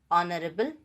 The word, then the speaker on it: honorable: For example, honest, hour, honorable, etc. Here, the vowel sound has become dominant and ha sound has been deleted.